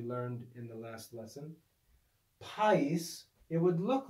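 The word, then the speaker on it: παΐς: diphthong but it's not this is actually a two syllable word and alpha yota in this word is not a diphthong and so there's a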